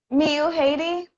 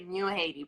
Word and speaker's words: Miu Haiti: I just want to get the pronunciation of your name right. Did I say it right or? Miu Haiti. Okay, Miu Haiti.